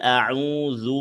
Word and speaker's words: أعوذ: কুল আউ, আউতে এক আলিফ টান আছে, পেশের বামে জজমলে ওয়াও। কুল আউযু বি রব্বিন, এই যে রব্বিন হরকতের বামে নুনে তাসদিদ ওয়াজিব গুন্না। রব্বিন নাস, আবার খেয়াল করবেন। কুল আউযু বি রব্বিন নাস।